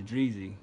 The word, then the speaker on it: Dreezy: to it, and she kind of pronounced her name wrong. I was like, no, it's Dreezy.